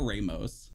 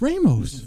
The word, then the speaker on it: Ramos: your final answer Ramos it's not Ramos it's Ramos Ramos we're going to have to do some double checking here right it's Ramos but it's almost great